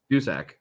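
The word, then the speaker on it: Duszak: uh toronto's joseph who was it is it pronounced dusak dusak yep dusak he's second with 19 in 17 games there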